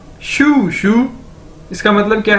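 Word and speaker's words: shū: Side में देखें SHU, शू। ये चाइनीज वर्ड है, इसको कैसे प्रोनाउंस करेंगे, जिस तरह हम बोलते हैं जूते को इंग्लिश में शू, एक जूते को कैसे बोलते हैं, शू, SHU, शू।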